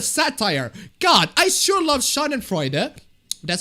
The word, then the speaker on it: Schadenfreude: God, I sure love Schadenfreude. That's how you pronounce it.